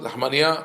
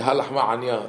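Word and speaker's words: Ha Lachma Anya: Lahmania on Pesach. You can eat, because in Hebrew Lahmania means bun. But that's if you don't pronounce the ayin. Only fits the Ashkenazim. We say halachma anya.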